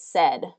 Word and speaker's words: said: be S right s but this is usually pronounced as said in English said and really what this the